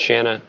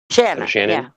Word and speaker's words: Shannon: and he still like pronounces Shannon without the end. So it's Shanna without. It's like Shannon without the end. Then Shanna. Shannon.